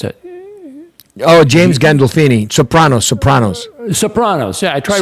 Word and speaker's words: Gandolfini: James Gandal. How do you pronounce it? Oh, James Gandolfini.